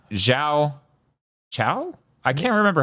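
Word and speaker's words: Xiao Qiao: settle ever no okay so the Q is a CH so yeah Z Chow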